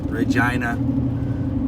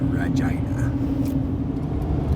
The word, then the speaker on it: Regina: about to go through regina rhymes with the happiest place on earth my windshield full of